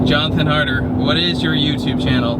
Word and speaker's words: Jonathan Harder: same one all right Jonathan harder what is your YouTube channel my youtube channel is jonathan harder just out sounds it's spelt jo hn a tha in and then harder like it sounds harder